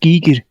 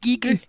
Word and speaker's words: Giger: biolog also fun fact the name is actually pronounced Giger really thank you thank you I appreciate it Giger yeah g don't be